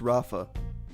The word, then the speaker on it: Ralph: Well, it's pronounced Rafa. Well, it's the English language, ma. You can't just make up stuff. Well, it's his name. He can pronounce it any way he wants.